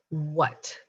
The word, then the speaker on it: what: you do it right our next word is what what remember that silent h is there so be